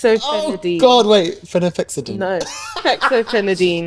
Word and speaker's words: Fexofenadine: I say it wrong I think you put an extra syllable in F fenine oh God wait phenex no Fexofenadine Fexofenadine I was that how